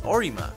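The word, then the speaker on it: オリマー: Olimar's Japanese name is pronounced and spelled as Orima, an anagram of Mario.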